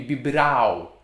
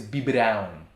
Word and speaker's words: biberão: brown be babe yes we need that little sign on b brown without it it would be bibrao and that's not a word the word is bi brown there's nothing stopping your